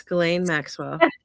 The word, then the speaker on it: Ghislaine Maxwell: Ghislaine Maxwell. Did I say her name right? Yes, Ghislaine Maxwell.